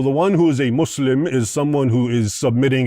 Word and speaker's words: Muslim: And it's not mus it's not Muslim, it's Muslim.